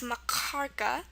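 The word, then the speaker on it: махорка: gutural k sound and it's pronounced like it comes from your throat like at the very back so it's pronounced marara um very typical sound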